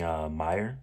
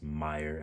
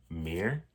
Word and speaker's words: Meyer: So, Twilight by Stephanie Meyer. I think that's how you pronounce her last name. I looked it up and this is Meyer. I was about to say Meir, but it's actually Meyer.